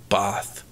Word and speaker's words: Bath: It's spelt like Bath, but you pronounce it like Bath.